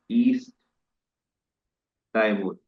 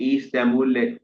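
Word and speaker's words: East Timor: हो, जिसका नाम है ईस्ट टाइमूर। इसे ईस्ट तैमूर लेते करके भी प्रोनाउंस करते हैं।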